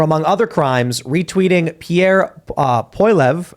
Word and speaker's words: Poilievre: their experts for, among other crimes, retweeting Pierre Poilievre, how do you pronounce that?